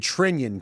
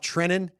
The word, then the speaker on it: Trenin: Uh when where did Trenion come from? Remember our guy uh Yakov Trenin? Oh, he became Trenion. You're right. It was Trenion by every national broadcaster.